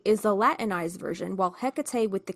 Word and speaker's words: Hecate: So Hecate or Hecate or Hecate as the Greeks would Greeks would have said is one of those figures who refuses to sit neatly in one box.